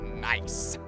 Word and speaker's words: NAIC: champion on the stage at neic pronounced nice pronounced nice as we see these